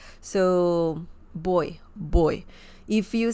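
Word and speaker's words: voy: boy uh remember that the V sound in Spanish is very similar to the b as in bell sound so boy boy if you say boy it's okay people will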